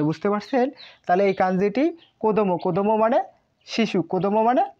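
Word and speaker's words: 子供: এইভাবে দিয়ে দেওয়ার পর এটি হচ্ছে কো দো কোদমো, এই কাঞ্জির নাম হচ্ছে কোদমো।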